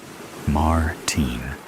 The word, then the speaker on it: Martin: Martin, he pronounces Martin in the American way rather than the way I prefer it. Martin.